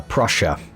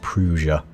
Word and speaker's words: Prussia: Um, yeah, we have uh Prussia is I think pronounced Prussia, not Prusia. Puera as I was saying it.